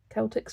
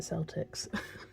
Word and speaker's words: Celtics: My husband and I are big Celtics fan, or is it Celtics? Because I said it wrong last time. It's the second, the Celtics.